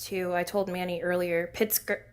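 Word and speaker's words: Pritzker: Pritsker. Pritsker.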